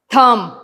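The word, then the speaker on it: thumb: भी लिख सकते हैं थम बी साइलेंट है नाइफ के साइलेंट है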